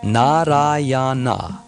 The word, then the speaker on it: Nārāyaṇa: Although calling the name of his son, he nevertheless uttered the 4 syllables, Narayana.